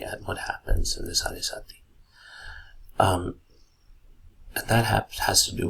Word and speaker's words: Sade Sati: And I know the spelling doesn't seem like it. You might be pronouncing it as Sade Sati or something, but the fact stands that the proper pronunciation is Sade Sati.